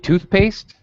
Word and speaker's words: toothpaste: right toothpaste very good now toothpaste the first word gets primary stress and the second word does not the second word gets what's called secondary stress it is also stressed